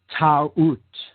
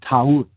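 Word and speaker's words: Taurt: Or Ta'ut, she was called in older Egyptian tradition. Ta'ut, T-A-U-R-T, Ta'ut. Now, in other traditions in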